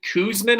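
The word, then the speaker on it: Czuczman: tough one to say kevin kuzman i believe is how it's said but his last name is spelt uh c-z-u-c-z-m-a-n kevin kuzman of the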